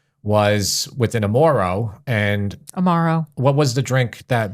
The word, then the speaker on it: Amaro: Violet hour which is a bar in Chicago Amoro Amaro Amaro Amaro excuse me guys for pronunciation Amaro became very popular in that area probably about